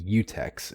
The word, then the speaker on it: Techeuns: They would be UTechs, and it's spelled EU techs because Techeuns, Tech EUNS, otherwise oh, known as Tech witches.